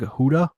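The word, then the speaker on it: Houda: wrist alignment i'm probably gonna pronounce his last name wrong but it's doug huda yeah doug huda okay i got it right good yeah there's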